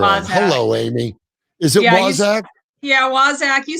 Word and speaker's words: Waszak: Is it Waszak? Waszak. You said Waszak, which I like. Yeah, I don't think you're saying it right because it has the word wise in it.